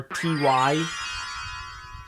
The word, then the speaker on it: Ty: their last names are t y we didn't know it's pronounced tai but we so t